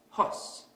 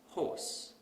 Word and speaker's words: horse: We also tend to ignore certain sounds. So we might pronounce this word as hos instead of horse.